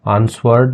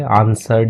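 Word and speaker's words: answered: ही आंसर्ड, ठीक है, इसको आंसवर्ड नहीं पढ़ते, आंसर्ड ही पढ़ लेते हैं, डब्लू थोड़ा गैप कर देते हैं अपन।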